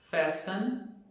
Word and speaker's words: fasten: Nessas palavras, a letra T não é pronunciada. Então, como que ficaria a pronúncia dessas palavras? Ficaria assim: Christmas, listen, fasten, mortgage e nestle.